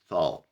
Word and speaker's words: salt: فتيجي تبص كده إحنا بنقول بول كورة، بس خلي بالك إن الA والL والT الL هنا بتبقى L خفيفة تقريبا بتتنطق هامسة كده، فبنقول salt. ملح بنقول salt.